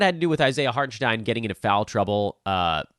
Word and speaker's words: Hartenstein: A lot of that had to do with Isaiah Hartenstein getting into foul trouble. By the way, he has officially told everyone now that his last name has a Stein sound in it.